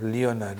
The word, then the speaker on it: Leonard: I used to call myself Leonard and until Doc Mr. Walker who was a uh educationalist tell me the O is silent. Leonard is my name.